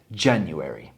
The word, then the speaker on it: January: I akcent jest na pierwszej słabie january.